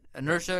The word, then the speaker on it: Inertia: Inertia? Because I know the dots are in between each letter. Yeah, Inertia. It's just inertia, like momentum.